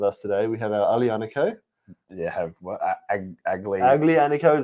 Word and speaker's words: Aglianico: We have our Aglianico. You have what? Aglianico is what it looks like. It's Aglianico. You say AG as a UH. Aglianico.